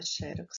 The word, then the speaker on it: xerox: Na palavra xerox está faltando um X no final. Eu coloco o X, mas leio como se fosse um C e um S.